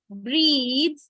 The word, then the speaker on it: breathe: So like it is breath, which is unvoiced, becomes breathe, voiced.